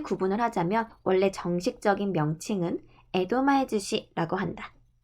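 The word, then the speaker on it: 江戸前寿司: 스시 앞에 다른 말이 붙으면 땐이 붙어서 즈시라고 보통 발음을 해요. 에도마에즈시.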